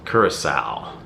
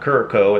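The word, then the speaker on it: Curaçao: this midnight in Curacao Curacao because I had no idea how to pronounce that I was pronouncing it wrong I'm sure it's not currico it's Curacao it's got purple wax this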